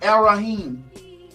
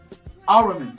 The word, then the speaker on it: Ahriman: This new spirit that has possessed mankind, black and white, is, they call it Arahim. Ahriman, sorry, I said it wrong.